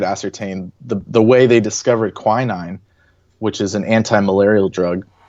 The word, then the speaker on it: quinine: I don't know how to pronounce it properly. Quinine.